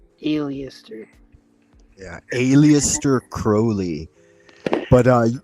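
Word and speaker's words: Aleister: Li 777 is by Alistar Crowley and it's 38 Pages 274 Pages yeah you know Alistar Crowley he didn't like to be called alist Crowley he said his name is pronounced Alias Crowley Alias yeah Alias Crowley but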